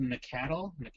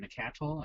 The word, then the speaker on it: Nacatl: But yeah, so actually, there's a new deck out there with not Wild Nacatl. I don't know how you pronounce that. Nacatl and Nacat. It's like Nacatl.